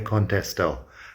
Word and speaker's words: Contestó: Llamé a María, pero no me contestó. I called Maria, but she didn't answer. No problem there. Llamé has an accent on the E. Contestó has an accent on the O.